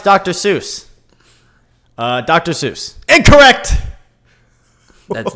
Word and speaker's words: Seuss: I don't know mhm it was swis how was the freaking answer s u i s s e is how they